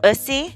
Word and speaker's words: Ussy: Talking about music, have you guys heard or seen Latto's new song, Ussy, which rhymes with wussy?